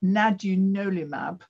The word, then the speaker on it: nadunolimab: Now, you've expanded what we should probably call by its antibody name, CAN04, but nadunolimab. How do you pronounce it, Goran?